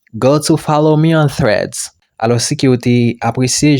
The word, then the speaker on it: Threads: Donc là, moi mettez phonétique là normalement. Ça veut dire c'est comme ça qu'il prononce. Les qui va prononcer ou mettez langue entre les dents. Donc les qui va bailler c'est comme si vous faites son sous langue.